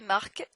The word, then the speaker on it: Marc: Salut Marc, because it's a first name, you have to pronounce the end.